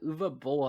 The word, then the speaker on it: Uwe Boll: why because that's how that's how germans pronounce the w sure anyways what i was saying uh uva bowl had a uh said